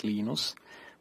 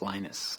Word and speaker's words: Linus: speak swedish it's venus when i speak finnish it's linos when i speak english it's linus and i really don't